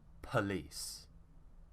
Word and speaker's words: police: lazy vowel sound and it will become p instead of po so it would be police it takes a lot